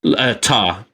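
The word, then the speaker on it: Tár: I was just saying, how did they pronounce her name in the movie? Was it Tar? Tar, yeah.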